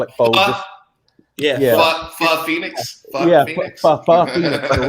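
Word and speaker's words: phở: Well, the real pronunciation is pho. Yeah, we all know. But I just call it pho.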